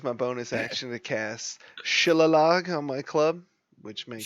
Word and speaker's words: shillelagh: bonus action to cast Shillalog on my club, which makes it, Shillelagh? yeah, whatever. Shillalog. Shillelagh sounds a little better. It's Lagh. That sounds like It's Irish. G is silent. Silent. Charlotte. It's silent.